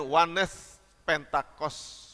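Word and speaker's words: Oneness Pentecostal: yang berlawanan dengan kita doktrinnya doktrin Wanes pentakos bahasa Inggris tapi dibacanya demikian bapak ibu jadi doktrinnya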